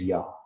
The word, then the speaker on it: Ea: And the name also, that name in particular, Yah, came from the Assyrian Yah, like, you know, spelled E-A. That's where they got Yah, because it's pronounced Yah.